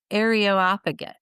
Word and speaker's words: Areopagus: in Greece, and it's pronounced Areopagus or Areo Areop yeah, Areopagus, there you go. Areopagus is kind of how they said it. I know that sounds terrible. Areopagus, I think is how they say it.